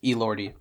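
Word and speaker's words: Elordi: it I hate him is that how you say his name I think so Roy no it's El lordy wow hate him even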